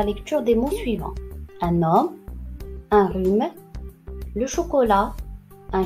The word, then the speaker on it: homme: Un homme, un rhume, le chocolat, un chat gris et le sang.